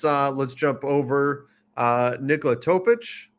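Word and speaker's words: Nikola Topić: let's jump over uh Nicola topic returning you said it right I'm so proud I did say it right right I'm trying to remember that it's the itch gotta add in that itch but um but so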